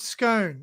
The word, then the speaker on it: Scone: It's called Scone. Then you have scones when you want to have a scone. See, but scone is not scone. You know what I mean? It's spelled exactly the jam same. and cream? But there is a town called Scone. You call it Scone.